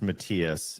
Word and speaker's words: Matthias: And just to avoid uh any confusion, the name is pronounced Matias, and the running joke in my family is that my dad doesn't even get it right anymore, and I'm an only child.